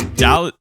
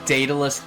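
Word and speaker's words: Daedalus: This is Dallad uh Datalus Labyrinth.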